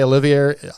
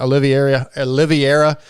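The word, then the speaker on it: Oliveira: I have to, and of course, Dante Olivier, I don't even say his name right, Oliviera, who I believe is your teammate, was on the team.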